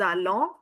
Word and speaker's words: allons: Nous allons, liaison is there. O N give you the on sound, which is a nasal category sound.